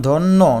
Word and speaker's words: ধন্য: যেমন ধন্য নয় ওকার শস্য এইযে সটা ওকার হয়ে গেল। জফলার পর রসই ধ্বনি থাকলে জফলার উচ্চারণ এ হয়।